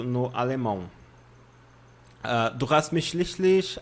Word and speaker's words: schließlich: Outra coisa que enrosca a língua de vocês é schließlich. Pronúncia. Schließlich, tá? Schließlich, não tem muito mistério. Este símbolo aqui significa, tem o som de dois S's.